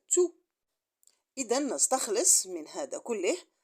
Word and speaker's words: tout: On conclut que tout devant un verbe, il se prononce tous. Mais à côté d'un nom, il se prononce tout.